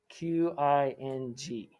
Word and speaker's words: Qing: The last royal family would be known as the Qing Dynasty, which is spelled Qing. Qing Dynasty. Qing.